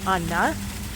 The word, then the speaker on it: Anna: So I'm telling you this because my name is Anna, and in Hungarian it's pronounced Anna, and I have a nickname, and